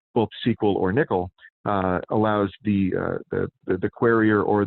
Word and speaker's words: N1QL: is our query language we call it nickel it's spelled n1ql but it's support nickel